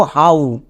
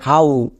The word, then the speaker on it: how: এরকম উচ্চারণ করি না আমরা একে কষনো হ বলি না কেন বিকজ এটা হচ্ছে সাইট ওয়ার্ডস এর জন্য আমরা উচ্চারণ করব হাউ হ না তাহলে এখানে কিন্তু ওডব আউ সাউন্ড দেবে সো আমরা একে ভুল করেও হ উচ্চারণ করবো না বঝা বোঝা গেল? এর উচ্চারণটা হবে হাউ।